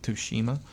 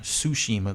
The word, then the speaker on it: Tsushima: with the ghost of Toshima her Tsushima the T is silent I keep forgetting but yeah I'm hoping